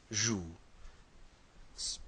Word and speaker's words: joues: Tu joues. Pronounce the same way, but with an ES.